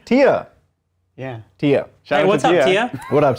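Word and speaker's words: Tya: not so it's spelled t-y-a but then it's pronounced t hyphen-a-h how would you say that tia tia yeah what's up what up to you yeah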